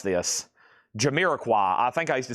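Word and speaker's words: Jamiroquai: Y'all don't even want to know how I used to pronounce this. Jiraqua, I think I used to say Jamie Roquay.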